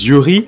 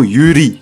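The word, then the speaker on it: yuri: soit accessible à tous je précise jury et non uhry qui est censé être sa prononciation initial du coup ce genre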